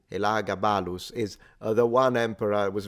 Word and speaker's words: Elagabalus: Eliogabalus, or how you say it in Latin, Elagabalus, is the one emperor, was very young, very, very controversial.